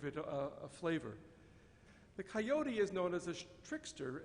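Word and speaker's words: coyotl: of the aztecan nual coyote there's a tl at the end of that word and as you'll see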